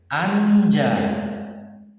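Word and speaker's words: 앉아: Anja. Anja terdiri dari huruf A, N, dan J. Kalau ini berdiri sendiri dibaca anj gitu. Kalau kita tambahkan kata A, maka akan berbunyi anja, bukan ana tapi anja.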